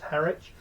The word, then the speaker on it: Harwich: I went to a place called Harwich or Harwich. depending on how you pronounce it. It's spelt Harwich, but I've no idea why it's pronounced Harwich in the UK.